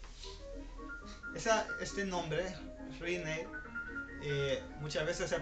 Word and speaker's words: Rinne: Por tanto, no podemos hacer un acento sobre la última sílaba, sino que tiene que ser sobre la primera sílaba. Por eso es prueba de Rinne, Rinne, no Rinne.